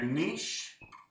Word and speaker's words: niche: So your niche, and some people say niche because it rhymes with rich, which is fine.